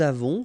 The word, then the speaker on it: avons: Okay, so j'ai, tu as, final S not pronounced, il a, elle a, nous avons, final S not pronounced, and then we make